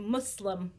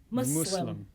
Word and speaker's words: Muslim: Here's how you say it. Muslim. Muslim. How? No Z. Oh, Muslim.